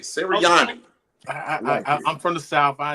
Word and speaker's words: Sirianni: So you got to be able to understand, to be able to have that like little flavor on the end of your mouth, Roger, to be able to pronounce an Italian name.